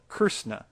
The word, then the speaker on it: Krishna: words Krishna and Christ the Sanskrit word is called curse na and has a literal